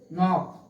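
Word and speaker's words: knock: देख लीजिए, एन के पहले जो है के है, इसलिए जो है के जो है साइलेंट हो गया है।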